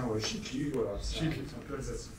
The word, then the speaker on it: Schittly: donc ça se prononce chitli c'est un peu alsacien ou chitli voilà Alsa chitli donc chitli donc qui est le